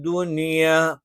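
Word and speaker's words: الدُّنْيَا: ഇവിടെ ദുന്യ എന്ന് പറയാൻ പാടില്ല. മിൻ യൗമി എന്ന് പറയുന്നത് പോലെ ദുന്യ എന്ന് പറയാൻ പാടില്ല. ദുനിയ എന്ന് മാത്രമേ പറയുകയുള്ളൂ.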